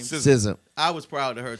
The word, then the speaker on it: SZA: she should have got, and even sister, how you pronounce her name? SZA.